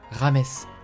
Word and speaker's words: James: les personnes qui disent James Rodriguez ça se prononce rames merci aujourd'hui les mecs on va parler de